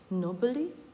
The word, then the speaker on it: knobbly: Якщо слово починається на «кн», то «к» не вимовляється. Тобто у нас йде «nobly knees».